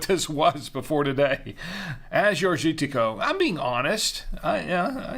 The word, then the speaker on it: Agiorgitiko: was before today as your shitiko I'm being honest I yeah yeah uh Azure gitico that's the the grape that's how you pronounce it and um so I'm